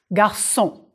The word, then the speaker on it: garçon: La cédille makes the C soft before the letter O. S, garçon.